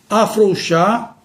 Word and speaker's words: afrouxar: em relação aos verbos afrouxar e estourar, pernoitar, boa guarida. Portanto, temos aqui exemplo de vários verbos que não devemos pronunciar com a vogal O aberta, e sim fechada.